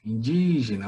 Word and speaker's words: indígena: Qual é a sílaba tônica aí? Indígena. Vamos fazer a pronúncia. Indígena.